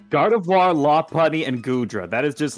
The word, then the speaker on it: Lopunny: I pronounce it Lopunny instead Yeah. of Lopunny.